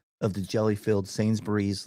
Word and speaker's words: Sainsbury's: Sainsbury's. Sainsbury's. Sainsbury's. Sainsbury's. Two syllables.